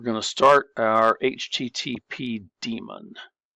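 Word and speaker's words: daemon: So, now what we're going to do is we're going to start we're going to start our HTTP demon. It's spelled Damon, but we pronounce it demon.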